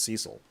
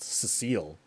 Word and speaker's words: Cecil: Main character's name is Cecil, who I pronounced Cecile for decades.